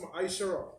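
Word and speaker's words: מעשר: It means 10 in Hebrew and it's pronounced ma'aishara.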